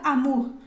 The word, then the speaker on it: amour: quitando la o entonces Amur amour no no amour no puede ser porque es u es u entonces Amur pero también puedo empezar